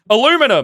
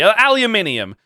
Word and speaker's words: aluminium: Aluminum. Yeah. It's, say it properly, aluminium.